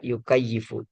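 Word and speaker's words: يُكَيِّفُ: Jadi, kenapa kita baca kaifa? Karena dia masuk ee wajan ee fa'ila eh fa'ila yufa'ilu, kaifa yukayifu gitu. Sehingga dibacanya yukayifu, ya. Dibacanya yukayifu begitu.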